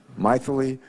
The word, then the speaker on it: Mythili: Our second witness has a name I've never heard before, and her first name is Mythili, right? Mythili? Sort of rhymes with mightily, right? Mythili Raman.